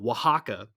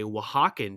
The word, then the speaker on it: Oaxaca: meaning goes no okay so oaxaca not spelled thank you not spelled like you think it's o a x ac or something i don't know if